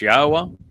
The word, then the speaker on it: Yahweh: the fact that God's name is pronounced as Yahweh and that the uh Torah means teaching, not law.